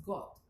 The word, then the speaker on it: Goethe: Goethe se escribe, pero es Goethe. Y fue de Alemania.